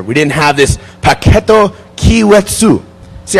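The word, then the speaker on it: Keiretsu: We didn't have this Paketo Kiwetsu. See, I have to pronounce this correctly, because if I don't, every time this very friendly Japanese person walks up and says, it's not Kairetsu.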